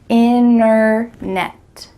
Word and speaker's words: internet: What's happening to that middle T? Internet. You can say internet with a clear T if you're speaking a little bit slower, but when native speakers are speaking quickly, we're gonna cut out that T completely and just say internet, internet.